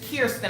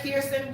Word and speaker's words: Kirsten: okay come on kirsten i know ain't chris it is kirsten i know you probably mispronounced your name all the time but it's got a clear ski er in front of it kirsten welcome to my world